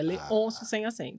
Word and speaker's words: Leoncio: É Leôncio? Leôncio. Leôncio. Maravilha. Isso. Maravilha. Muita Perfeito. gente coloca o acento, mas não tem acento. É Leôncio sem acento. Pronto. Então, já puxando aqui, Leôncio, fala para nós, para